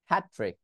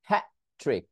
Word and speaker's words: hat trick: written, forgotten, that dog, that, আমি কিন্তু টি উচ্চারণ করে দ্যাট বলি নাই, that dog, hat trick, hat trick, হ্যাঁ হ্যাঁ, আমি জাস্ট একটা উচ্চারণে আটকে গেছি,